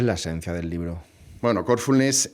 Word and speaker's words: Corfulness: Bueno, Corfulness es, como se ve por el nombre, tiene una fuerza en el en la primera sílaba, ¿no? En el core, ¿no? Corazón.